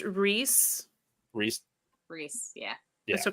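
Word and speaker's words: Rhys: up though I haven't double checked but yeah pronounced Reese Reese Reese yeah yeah so Christian we start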